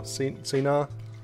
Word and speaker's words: Cynar: Nico, I actually quite like the way how you actually pronounce Cynar. I think it's more Cynar. It's probably the correct way to pronounce it.